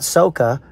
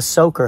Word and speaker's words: soaker: a sprinkler they maybe you buy them a soaker hose not soca but a soaker hose s-o-a-k-e-r got to learn how to pronounce it correctly a soaker hose is